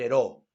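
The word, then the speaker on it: Heraud: Ese joven de la literatura se llamó Javier Heraut, Javier Heraut, o Javier Heró, como se pronuncia.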